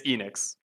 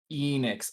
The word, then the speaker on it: Ehnyxs: It's Enix. Enix. Okay. Yeah, like Square Enix.